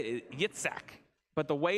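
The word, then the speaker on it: יצחק: And as you say it in Hebrew, kind of a way to say it, Yitzhak.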